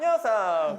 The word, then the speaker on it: Yeosang: This is how they pronounce their names. Hi, my name is Seonghwa. My name is Hongjoong. I'm Yunho. I'm Yeosang.